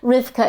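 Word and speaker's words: רבקה: name is Rebecca but rivka is Rebecca it's just the Hebrew pronunciation of it but I think Rebecca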